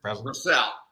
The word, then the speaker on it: Brassell: Danny Brassell. Did I say Brassell right? Brassell.